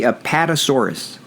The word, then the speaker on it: Apatosaurus: is an Apatosaurus am I saying it correctly Apatosaurus yeah it's a kind of dinosaur is it